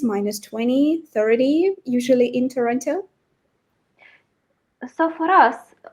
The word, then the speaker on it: Toronto: Yeah, I lived in Toronto, or Toronto, as the locals say. I can't quite say it like that, but yeah, they say like Toronto.